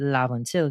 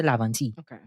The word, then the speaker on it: Laventille: Some people say Laventille when they're talking about Laventille, but we're using the word Laventille, the pronunciation here.